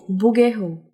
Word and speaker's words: Bouguereau: Eu acho que é francês. Bouguereau.